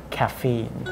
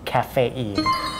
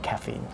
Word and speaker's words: caffeine: caffeine It's actually pronounced caffeine. Sometimes it's mispronounced, so sometimes they say caffeine, but we should say caffeine.